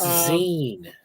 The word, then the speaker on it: zine: z z Zen magaz oh I always forget how to pronounce that it's Zen yeah I know it's magga